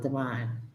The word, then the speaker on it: Davine: love or divine love it spelled davine but you may pronounce it divine thank you dee walker